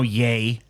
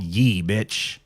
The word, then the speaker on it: Ye: ye you don't even know yay there ain't no a in that there ain't no Y in that I mean there's a y but there's not a yay is spelled y-a-y that's how you spell yay This spells Yi so you're getting called ye that's